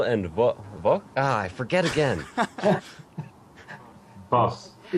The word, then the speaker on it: Bas: and two of the co-founders from Reus, or however you want to pronounce it. Hello. Manuel and Bas? I forget again. Bas, It's difficult.